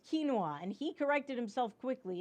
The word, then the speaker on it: quinoa: really bragging all the time about how you pronounce things correctly it's quinoa and he corrected himself quickly and there were